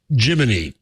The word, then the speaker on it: Gemini: story at the time NASA clears up way gini is pronounced and what does Nasa say um Jiminy as a cricket no really yeah see